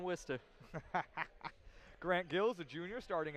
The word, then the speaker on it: Worcester: guard Hill out of Worchester Massachusetts Hill we started also have the transfer grant gills don't enter don't pronounce it like that in Worcester grant gills a junior